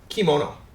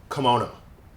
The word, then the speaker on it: kimono: another Japanese word kimono right in Japanese it's pronounced kimono but usually English speakers will pronounce it kimono like that now the reason that this happens